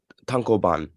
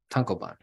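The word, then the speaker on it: tankōbon: we're talking all 37 tanka buns tankobons how do you pronounce that Zach tonkoban tankoban thank you uh it ran from 2000 to 2013.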